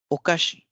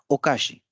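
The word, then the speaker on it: おかし: तो ये ओकाशी लिखा हुआ है, लेकिन हम इसे उच्चारित करते समय, प्रोनाउंस करते समय ओकाशी नहीं कहेंगे, ओकाशी, ओकाशी कहेंगे।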